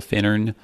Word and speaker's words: Finnern: They're both stressed on the first syllable, Finnern.